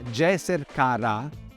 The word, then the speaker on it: Djeser-ka-Ra: Ra sta però al primo posto solo per motivi di rispetto. Si tratta ancora di quella che gli egittologi chiamano un'inversione onorifica. Il nome si legge in realtà Djeser Kha-Ra e vuol dire è